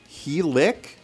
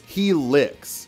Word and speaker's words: Helice: Wow, he is a chump with a big long helic? That cannot be how it's pronounced. Yeah, I was wrong. There's an S sound, so it's he licks.